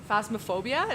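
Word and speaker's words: Phasmophobia: do you say it phasmaphobia is how you say it to scare the hell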